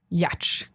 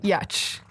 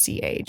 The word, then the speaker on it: Giertz: When I was on a show, I saw the transcript that they had to pronounce my name as Yetch. Yeah, Yach. Yeah. Yach. Okay. Like Y, schwa, TCH.